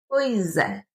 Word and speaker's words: pois é: a dia essa expressão, nós juntamos a palavra pois com a letra e. Então nós juntamos isso e a pronúncia ela fica: Pois é, pois é. A gente escreve pois é, mas nós falamos pois é.